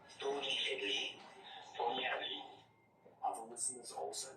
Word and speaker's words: Tony Hadley: To his surprise, Tony Hadley not only responded, but sent a video confirming that his pronunciation was correct. Hi, Mohammed Shanahan. This is Tony Hadley here from the UK.